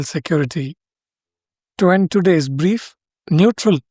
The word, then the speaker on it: Newtral: To end today's brief, Neutral Technologies, and they spell it as NEWTRAL, a climate startup in Bengaluru, has raised $600,000 in funding from Now Accelerate, Indian Startup Times reports.